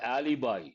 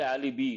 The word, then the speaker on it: alibi: Example, the detective noticed a flawed alibi. You got to be careful with the pronunciation. People say alibi, not correct, alibi.